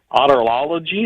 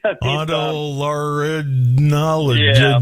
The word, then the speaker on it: otolaryngology: The American Academy of Otolology? Is that how you pronounce that? Head and neck surgery? Otolaryngology. Yeah.